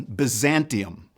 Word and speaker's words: Byzantium: as in it is pronounced in Latin, Byzantium.